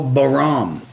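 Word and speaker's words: Bahram: Bram Akradi. Yeah, I'll show it to you, because it messes everybody up. B-A-H-R-A-M. Oh, Bram. Is it pronounced Bram?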